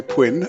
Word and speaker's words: Pwinn: I'm and today I'm going to solve High Killer X by Quinn rhymes with Quinn.